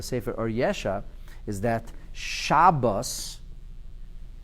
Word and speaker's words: Shabbos: Or Yesha is that Shabbos is always pronounced with a patach. Sfardim and Ashkenazim. People say Shabbos or Shabbat, but it's always Shah. When you want to make people quiet, what do you say? Shah. Shah. So Shah, he says, is